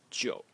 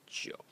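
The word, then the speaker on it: 九: The next character is number 9, and it's pronounced Zhou. Zhou. In the third tone, Zhou.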